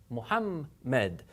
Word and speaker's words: Muhammad: If you remember in Arabic, there actually are two memes here, and they're both pronounced. Imagine that one of them is going with the syllable before of it, and the other one's going with the other syllable. Muhammad, Muhammad, and then say that faster, Muhammad, so that you actually have both of them in there.